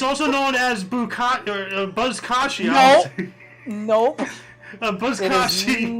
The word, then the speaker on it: Buzkashi: I'm gonna lay down $50 that I guarantee you it's not pronounced Bukake. no, Something's deep Buzzkashi.